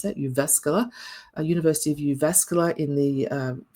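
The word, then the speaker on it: Jyväskylä: I was in Uvascala. That's how you pronounce that. Uvascula, University of Uvascular in the U Finnish Institute of Educational Research.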